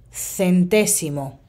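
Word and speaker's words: centésimo: sì non è difficile si scrive quasi come in italiano c'è un accento sulla seconda e la pronuncia centesimo centesimo e ora io ho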